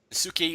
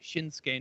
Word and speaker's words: Shinsuke: We have Sami Zayn versus Suki Nakamura. Hopefully, I'm pronouncing that I, correctly. I think the U is silent, like in Asuka. I think it's just Shinsuke Nakamura.